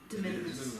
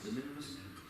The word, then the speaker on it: de minimis: Approve the minus, how do you say that? De minimis. De minimis.